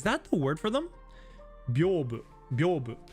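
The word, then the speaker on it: 屏風: God, if I saw these characters, I would never have guessed in a million years that it's pronounced Byobu.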